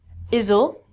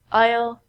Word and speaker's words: aisle: also sound like this the s in these words are so we don't say easel and I so we say aisle aisle aisle this aisle is a